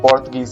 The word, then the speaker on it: Portuguese: बेटा पुर्तगाली की स्पेलिंग ये होती है PORTUGUESE, पोर्तुगीज बोलते हैं इसको, है ना।